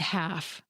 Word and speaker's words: half: Listen to me say these words: walk, talk, and half. Did you notice that even though all these words have an L in their spelling, I didn't pronounce them?